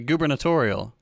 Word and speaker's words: gubernatorial: ] hate the Govern sounds like you're intentionally mispronouncing oh the the gubernatorial okay see there we go okay uh I'm